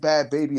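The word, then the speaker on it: Bhad Bhabie: she wasn't like to me she wasn't like bad baby that went that's her name that's how you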